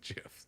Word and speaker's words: GIF: them gifs because the the G stands for graphic and so it's a hard G. So people go okay it's a GIF and then then the I think the creator of them said I pronounce it GIF.